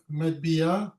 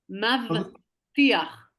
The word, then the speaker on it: מבטיח: מטביע Non, tu prononces pas bien le mot. מבטיח.